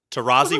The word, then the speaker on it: Tarazi: Tarazi with a Z. What? No, two S's. Yeah, but you say it like a Z.